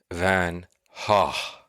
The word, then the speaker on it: van Gogh: Van Gogh is more of a UK thing, but the Dutch pronunciation is the correct pronunciation, and it is more Vincent van Hah.